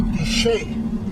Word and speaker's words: Canyon de Chelly: Now, Canyon de Chelly. Why do they pronounce it Shay?